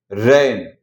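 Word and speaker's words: rain: ए आई के बाद एन या तो एल आता है, ठीक है। तो हम इसका प्रोनाउंसिएशन जो है वो ए से करेंगे।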